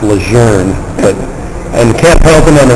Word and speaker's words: Lejeune: The way the Marine Corps, when Marines are sitting at big bases like Camp Lejeune, Lejeune, which is actually pronounced Lejeune, and Camp Pendleton on the West Coast, Camp